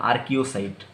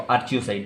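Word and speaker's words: archaeocyte: एमीबोसाइट के अंदर एक बहुत ही स्पेशलाइज सेल होता है जिसका नाम है आर्कियोसाइट, आर्कियोसाइट या तो आर्चियोसाइट, जैसे भी आप प्रोनाउंस करना चाहेंगे, आर्चियोसाइट।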